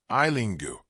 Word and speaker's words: Eileen Gu: Being Eileen Gu, the sparkle and shadow around the American representing China in the Winter Olympics. Winter Olympics grittiest and most glamorous skiing star Eileen Gu, pronounced Eileen Gu, an American representing China, spent Valentine's Day on